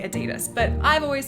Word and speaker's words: Adidas: together to be Adidas So actually there's sort of more impetus to say ADidas because he wouldn't have been aDI He would have been ADi, so ADidas makes more sense with the like word origin stories, but you